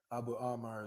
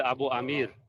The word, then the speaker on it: Abu Amir: this Hadith up that Abu Amar is forcing me to to bring bring out it's actually Abu Amir not Abu Abu Abu Amir Amir